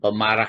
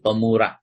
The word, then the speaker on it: pemurah: tentang keutamaan sifat pemurah hati-hati nanti keliru membacanya bukan pemarah Nggih tapi pemurah jadi antara pemarah dengan pemurah itu sangat berbeda sama dengan harakat di